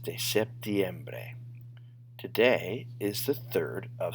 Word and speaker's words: septiembre: Or if it's a vowel, like bre, then your voice always goes up in the next to last syllable of a word. So septiembre. Otherwise, it could be septiembre, septiembre, septiembre, like it should, or septiembre, but it's septiembre.